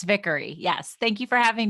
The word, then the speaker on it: Vickery: you did a good job it is it's vickery yes thank you for having me awesome so